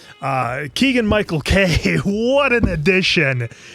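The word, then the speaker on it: Keegan-Michael Key: Did I say his name wrong? No, you said it right. Okay, Keegan-Michael Kay.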